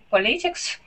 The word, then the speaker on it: politics: Franklin became interested in politics. He coming back to America. Good, yeah, and that word would be politics. Politics. Good, yes, the accent goes at the very beginning of the word politics right there.